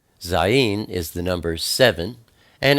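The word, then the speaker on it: zayin: something next we have zen zen is the number seven and it's pronounced z z like Zoo it's a picture of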